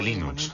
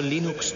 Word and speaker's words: Linux: La primera pregunta de la categoría fácil es: ¿cómo se pronuncia Linux? Bueno, yo Linux lo pronuncio Linux. Sin embargo, si fuese Linus Torvalds, no hay duda de que lo pronunciaría Linux. Claro que si uno es de la costa oeste de los Estados Unidos, lo más seguro es que lo pronunciaría Linux. Pero a Linus Torvalds le importa un bledo cómo pronunciéis Linux siempre y cuando lo utilicéis.